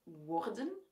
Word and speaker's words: worden: Ik zeg bijvoorbeeld worden, wegen, wanneer.